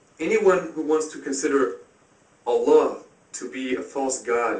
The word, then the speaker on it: Allah: The Arabic word is Allah. The difference is mainly the elongation of the L.